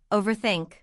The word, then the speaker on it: overthink: Native speakers often connect them a little. Overthink. The R flows into think.